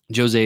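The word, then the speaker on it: José: Padia um Jose Padia Jose is how you say it that's how they say it in the behind the scenes features um just really really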